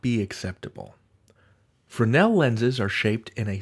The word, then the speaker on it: Fresnel: that in the US, you don't say the S, you say it Fresnel, accent on the Nell.